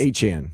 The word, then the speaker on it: Etienne: Travis Etienne who's now whose real name is Travis Etienne Junior Junior. He's Creole. He's Haitian. So, that's why He's Haitian. That's why it's That's why it's Etienne. Etienne.